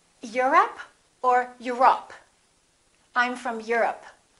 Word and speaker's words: Europe: Europe or Europe? I'm from Europe. Don't say I'm from Europe. This is stressed. The O, once again, is reduced. Repeat. Europe.